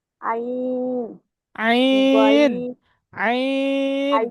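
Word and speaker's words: ع: গইন, আইন, গলার মধ্যখান থেকে উচ্চারণ করেন, আইন।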